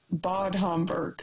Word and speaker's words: Bad Homburg: How to pronounce mine? Yeah. Bad Homburg.